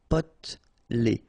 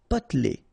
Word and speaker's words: potelé: Okay, here you don't really pronounce this E. Potelé. Potelé.